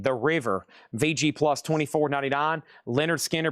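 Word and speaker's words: Lynyrd Skynyrd: Leonard Skinner pronounced on the original label.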